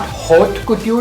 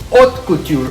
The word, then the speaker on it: haute couture: It's not haute couture, the H is silent, it's haute couture, okay?